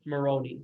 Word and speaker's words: Moroni: Moroni.